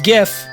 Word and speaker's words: GIF: Um so if you want to be like technical about it, it's GIF with a J sound.